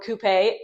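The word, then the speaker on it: coupé: So, I looked again the next day, and there she was, a hard top Mini Cooper S coupe, or coupe as the Brits say.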